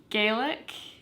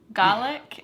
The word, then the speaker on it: Gaelic: as we've learned so gaelic is how they pronounce it in ireland garlic is how they pronounce that um dialect or that